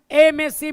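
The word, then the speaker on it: MSc: एमएससी में हम आपको प्रोनाउंसिएशन जो करते हैं वो बिल्कुल करते हैं वॉवेल साउंड से। भले ये लिखने में दिखने में कॉन्सोनेंट है, लेकिन इसकी प्रोनाउंसिएशन हम वॉवेल साउंड से करते हैं, हम वोकल कॉर्ड से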